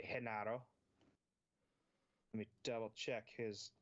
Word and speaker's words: Genaro: They're led by, I'm probably going to butcher it because I want to say Gennaro, but I know it should be pronounced probably Genaro.